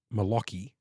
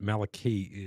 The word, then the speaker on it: Maliki: your name phonetically, because I always thought it was Malaki, because I'm thinking like Lockie as in Lachlan. But Maliki is what I've been told is how to pronounce it.